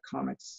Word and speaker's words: COMEX: I started writing about the Comex, or Comex is the way people pronounce it.